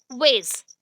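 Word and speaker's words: WAIS: Second वेज, वेज, ठीक है, बट इसका स्पेलिंग देख लो, वेट जैसा बोलते हो वैसे ही है वेज।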